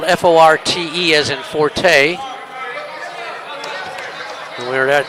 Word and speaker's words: Forte: It's pronounced 40. It's spelled f o r t e as inforte. We were at their place. They told me it was Forte. Now they're here. They're telling me it's 40.